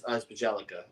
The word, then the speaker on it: Bjelica: That's Bielitsa. Oh, it's Bjelica. Okay. Bjelica. That's how I pronounce it.